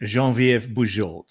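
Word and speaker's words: Geneviève: help me yes i will help you um jean viv jean viva french canadian jean vf okay there you go but i just remember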